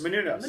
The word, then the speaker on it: Menounos: Menounos, yes.